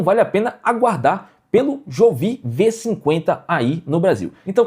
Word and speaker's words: Jovi: Tem gente que fala jovem. Tem gente que fala Jovi, tem gente que fala Jovi, é Jovi.